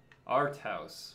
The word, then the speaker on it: ARTHAUS: fall off No whoo this is cool okay arthouse will say it correctly now Tesla thank you